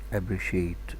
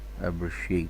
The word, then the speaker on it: appreciate: Appreciate, appreciate, appreciate. Take care, CI here, it's pronounced cha. Appreciate, like SH here.